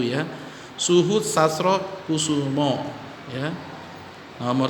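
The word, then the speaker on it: Sastrokoesoemo: Jadi bacanya Suhut Sastro Kusumo ya. Nama dia masih ejaan lama ya, Soe ya, Soe Oe dibaca U ya. Suhut Sastro Kusumo ya.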